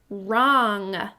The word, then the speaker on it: wrong: think about this word, wrong? I see ong spelled O-N-G. That's right. And I notice that familiar pattern when we see a W coming right before the letter R, it's silent.